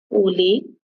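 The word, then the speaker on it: أولو: अब जहाँ ये वाव आ रही है ना ऊलू में, हमज़ा के बाद, ये वाव रस्मुल ख़त में है, ठीक है? ये वाव पढ़ने में नहीं आएगी, इसको प्रोनाउंसिएट नहीं करेंगे आप। इसको सिर्फ़ लिखा जाता है, पढ़ा नहीं जाता है।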